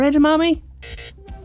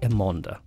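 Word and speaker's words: Émonda: bike no it's not the track admin or edamame it is the trek emonda accessory brands are just as ripe from mispronunciation and here are two of the most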